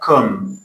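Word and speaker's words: comb: For example, kum, lam, tham.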